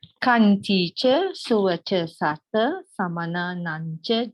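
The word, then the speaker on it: khantī: Not Kananti. No. Kanti cha sova cha sata samana nancha dasanam kalena dhammasa kacha etam Maṅgala muttamam.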